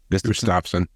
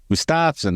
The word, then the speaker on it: Gustafson: But it also becomes a podcast the following Monday, and I have Steve Gustafson, or Gustav. How do you say it, Jeff? Gustafson. Gustafson, that's right. There's an A in his name.